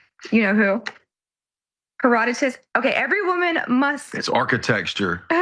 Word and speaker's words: Herodotus: The Greek traveler Herodotus reports in Babylon, every woman must Heroditus. I did a you know who. Herodotus.